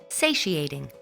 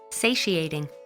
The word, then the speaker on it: satiating: of the word is satiating satiating satiating say she a ting say she a